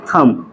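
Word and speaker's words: thumb: ठीक है य प बी क्या हमारा साइलेंट है ठीक इसको हम क्या पढ़ते हैं थम थम मींस क्या होता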